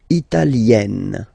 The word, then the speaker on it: italienne: L'Italie, italien, italienne. Remember, when you get this E followed by a double consonant like here, then you will have to open it.